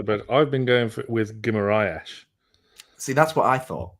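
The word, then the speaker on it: Guimarães: But no Dan Burn in the starting 11 and no Bruno Guimaraes, as I'm told it's pronounced.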